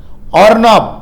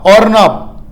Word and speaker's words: Arnab: தாடுமண்டலம் அருணா பாகை அதாவது ஏஆர் என்ஏபி ஏஆர் என்ஏபி இது வந்து புயலோட பெயரு ஆனால் உச்சரிப்பு ஓஆர் என்ஏபி ஆர்னாப் ஆர்னாப் இந்த பெயர் யார் வச்சிருக்காங்கன்னா